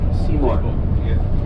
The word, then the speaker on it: Seymour: Seymour. Or less. Seymour. Seymour or less. It's spelled S-E-Y-M-O-R-E.